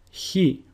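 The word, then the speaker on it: χι: He, which is pronounced who, and a sample word is χόρτο, which means grass. Now, he sounds exactly like the way the letter H is pronounced in the word house.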